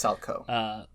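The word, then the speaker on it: Salchow: You need to make sure that you can do the Salcho jump, which is named after Ulrich Salcho in 1909. I think it's Salco. Salco, that's it. Damn, at least that's English. How they pronounce it in the anime.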